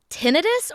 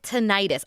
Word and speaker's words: tinnitus: So, is it tinnitus or is it tonightis? I've always said tonightis. Is that wrong? No, it's not. Either is correct technically.